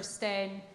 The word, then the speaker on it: Stijn: I've got a question for Stijn. Hope I've pronounced your name correctly.